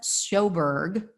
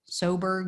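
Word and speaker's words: Sjoberg: a woman named Joanna soberg soberg zberg um not sure how you pronounce it I think the J is silent and she is the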